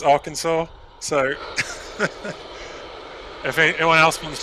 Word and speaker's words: Arkansas: go and embarrass myself our kansas is in arkansas no it's arkansas i'm i'm i'm intentionally